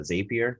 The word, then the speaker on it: Zapier: this other website uh zapier spelled like rapier with a z it's like the same